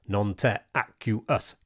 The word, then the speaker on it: Nonterraqueous: But we've settled on a pronunciation, and that's Nonterraqueous. Got that?